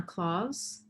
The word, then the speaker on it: Claus: My name is Hannah Claus, and yes, it's pronounced just like Santa Claus.